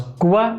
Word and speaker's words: Cuba: Como en español, pero una entonación diferente. No es Cuba, es Cuba. Cuba.